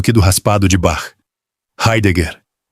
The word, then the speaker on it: Heidegger: Heidegger, com o R aspirado do português e os dois G duros.